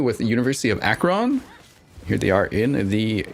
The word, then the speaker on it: Akron: I have just learned it's pronounced Akron. Akron. Okay. Akron. University of Akron.